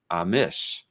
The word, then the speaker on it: Amash: uh Peter Rose says Jim Amash is pronounced Amish so I always surprised